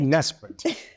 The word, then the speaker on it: Nelspruit: place where you would have to correct my pronunciation, but it's called Nelspruit or something like that. Nelspruit. Nelspruit, correct.